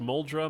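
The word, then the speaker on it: Muldraugh: totally happy like this it's pronounced moldra my mom corrected me when I said it the way you do nobody lives there so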